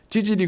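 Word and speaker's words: ציצית: 겉옷은 여러분 찌질이라고 합니다 이게 찌질이 그러니까 이제 우리나라 말 찌질이 그런게 아니고요 이제 원어로 발음을 하면 찌질입니다 찌질 근데 이게 옷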